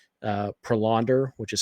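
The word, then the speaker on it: Prelander: uh and then it certainly looks like uh prolonder which is how you pronounce it by the way apparently I've been told prolonder barroa is going to be up uh here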